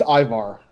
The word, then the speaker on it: Ivar: Yeah, I think it's Ivar. Okay, so... It's like Ivan, just with an R.